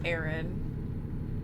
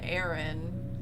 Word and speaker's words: Aaron: There was one day he came into work and he was like, so in reality, the name Aaron, spelled with 2 A's, R-O-N, is supposed to be pronounced Aaron.